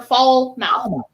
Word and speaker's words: Falmouth: You say it how it's spelled. Foul mouth or fall mouth. Fall mouth. Yes.